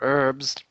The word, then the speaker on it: herbs: Or or the guys who decided to find out what kind of herbs go well or herbs go well with things. The Americans say herbs and we say herbs, Ivick, because there's a I said herbs.